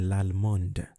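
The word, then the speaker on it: allemande: i pronounce that okay so in french generally if a word ends in a consonant you don't pronounce it however if a vowel comes after that consonant then you pronounce that consonant okay that's why we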